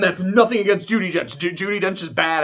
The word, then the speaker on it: Judi Dench: I think I said Judy. No, it is Judi Dench. For some reason, the way I was saying it made me sound like I was pronouncing it wrong.